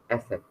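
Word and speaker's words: Eszett: एंड ये आप ये साइन देख रहे हो, इसको हम जर्मन में कहते हैं एसेट. एसेट. एसेट, ये इनका प्रोनाउंसिएशन है.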